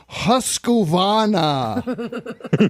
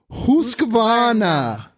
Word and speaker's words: Husqvarna: I've noticed that many people in the US pronounce Husqvarna with an A in the middle. Husana.